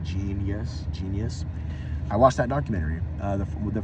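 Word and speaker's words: jeen-yuhs: It's spelled like Jenyuhs, like Genius.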